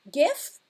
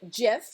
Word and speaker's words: GIF: is a is a gif also said gif you can pronounce it either way or as a png